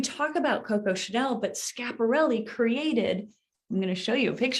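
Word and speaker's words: Schiaparelli: And I have to admit, I I stumble across the pronunciation all the time. So you'll have to help me out here. Elsa Scaparelli. Scaparelli.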